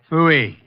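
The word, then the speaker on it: pfui: Fooey. It can be spelled in several ways. I spell it P-F-U-I. Fooey.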